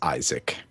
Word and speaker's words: Isaac: think it's ISAC Bill I'm quite certain that you'll find that's Isaac it can't be Isaac just spelling wise is a a c is saac I think you're doing it phonetically correct I think though that it is called The Binding of Isaac okay just so you